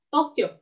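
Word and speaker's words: 東京: Nah, dibacanya itu Tokyo. Tokyo. U-nya nggak dibaca ya, bukan Tokyo, tapi Tokyo. Ini istilahnya kayak baca panjang gitu. Tapi ini nggak bisa hilang U-nya.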